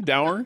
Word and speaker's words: dour: true that's true it is it is Marvin da sour you know what I'm going to go